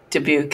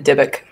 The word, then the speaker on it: dybbuk: a look he's going to go for the dubuque again the dybbuk okay that's how you say it the wise